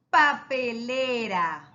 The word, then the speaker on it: papelera: Papelera. La palabra papelera, miren, papelera. Miren, el acento tiene en le.